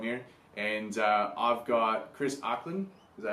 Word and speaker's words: Ackland: Guys, it's Josh from Throwing Athletes Forum here, and I've got Chris Ackland. Is that how you say it? Ackland, yeah.